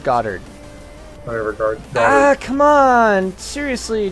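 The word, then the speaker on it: Goddard: you should make a godard's rocket replica a what godard's rock rocket replica Gard you mean it's pronounced garded whatever ah come on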